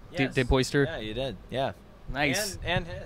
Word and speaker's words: DePoister: DePoister? Yeah, you did. Yeah. Nice. And hit. Did you get some mispronunciations often?